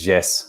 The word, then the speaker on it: Jesse: So in Portuguese, it's always Jesse. There's no 2 syllables, it's just Jesse.